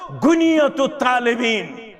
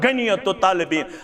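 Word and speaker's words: غنية الطالبين: छु फरमावन गछु खोलियो गुनियतु तालिबीन कौशर क्या वन गनियतु तालिबीन असल प्रोनाउंसिएशन क्या गुनियतु तालिबीन गछु खोलियो शेख अब्दुल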